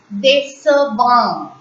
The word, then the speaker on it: décevant: So, there is a rule that cedilla need not be placed in front of E or I, but still the alphabet C will be pronounced as S and not K.